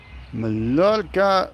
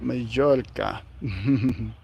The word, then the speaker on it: Mallorca: Do you say Mallorca or Majorca? Mallorca, we say it like Majorca.